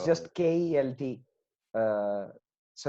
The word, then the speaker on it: Kjelt: So it's Oh, just Kelt. Uh, so it's just how it's pronounced, no you know?